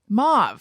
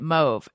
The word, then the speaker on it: mauve: do you pronounce it however you said it mauve that's how normal people pronounce it um um yeah there's a lot of people who pronounce it move evidently i had no idea i don't even